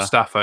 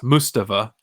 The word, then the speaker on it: Mustafa: Rather than Mustafa, it's Mustafa. That's how he pronounced it.